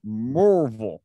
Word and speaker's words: Maryville: but up there it's pronounced Morville. Oh, God. Murvul.